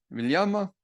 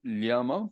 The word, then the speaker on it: LLAMA: Llama quiere decir, yo pronuncio llama porque así decimos, sé que hay otros que van a decir que es llama, no sé.